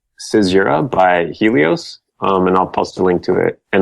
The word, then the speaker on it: Caesura: It's called Caesura by Helios, and I'll post a link to it.